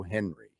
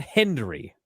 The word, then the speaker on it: Hendry: Jordan Grace calls him Joe Henry. And she apparently has always thought that his name is Joe Henry. Not Hendry.